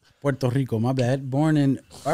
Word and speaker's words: Puerto Rico: I was born in Puerto Rico okay um moved over here you said it wrong Puerto Rico Puerto Rico my bad born in